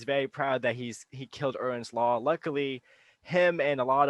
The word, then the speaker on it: Erin's: Or, uh, or I guess I should say I'm saying it Aaron's Law. It's Erins Law, right? If I'm gonna say it right.